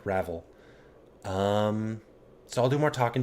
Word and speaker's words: Ravel: And how to say her name, not Ravel, but Ravel.